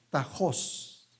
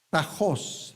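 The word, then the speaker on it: τάχος: Qué dice Pronto pronto esta palabra en el griego es tajos tajos no no hay nadie que sepa griego porque si no rápidamente diría que estoy pronunciando mal Qué bueno pero dice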